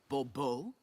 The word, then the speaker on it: Bobo: I expect you to address me as sir, or better yet, as Msie de Bobo. Fine. Mure debo. The emphasis falls on the last syllable. Bbo.